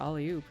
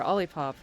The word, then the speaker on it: Olipop: Oh, you have a coupon for Ollie-oop. Or Olipop. It's a delightful mispronunciation of that name.